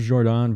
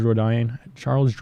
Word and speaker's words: Jourdain: Moved over to Jourdain because I think that's how people were pronouncing it. Like the UFC was doing that, and now they moved back to Jourdain. So I'm trying to fix it.